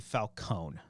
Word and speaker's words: Falcone: and carine and Falcone first we got to figure out if it's a Falcone or Falcone that's what we got figure out we have two directors competing to dominate this pronunciation I think it is properly Falone okay but in the bat in Nolan's Universe they called him Falone I feel like pronouncing the e in Falcone yeah maybe yeah but